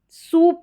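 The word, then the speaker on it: soup: तो यहां पर भी यहां पर सूप करके पढ़ेंगे। इसको साउ नहीं पढ़ते।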